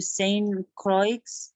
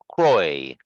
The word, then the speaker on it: Saint Croix: avoid a voyage to Saint Croix I mean you don't need to say the X it's Croix silent yes yeah this is